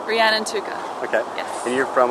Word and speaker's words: Rhiannon Tooker: that how you say it yes why you pronounce it for us so we have it exactly right ran and Tuka okay yes and you're from Australia Queensland that's